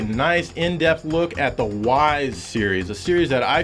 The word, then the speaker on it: Ys: Well, it's a great series, Joe, that's for sure, but I'm not sure you're pronouncing it correctly. I mean, it's... Come on, dude, it's Ys. How are you supposed to pronounce that?